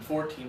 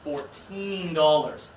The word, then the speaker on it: fourteen: Okay, so we have to be careful with how we stress the word. Okay, the hat costs $14, not $40. $40 for a hat is really expensive. $14 for a hat, that's fine. Okay, yeah, that's a good price, exactly. So let's go to Yuliya first. Give us 14. 14. Good job with the strong second syllable.